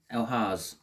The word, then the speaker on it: Elhaz: I'm sorry, I'm going to have to just check that pronunciation because I'm sure it's not Elhaz. It is, well, Elhaz.